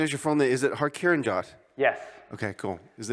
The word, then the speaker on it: Kiran Jawanda: Is it Kiran Jawanda? Yes. Okay, cool. Is it That is, Indian? that is a great pronunciation on first try.